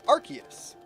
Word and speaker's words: Arceus: it too much and you'll be good I pronounce it Arceus I assume that's Ark as in like uh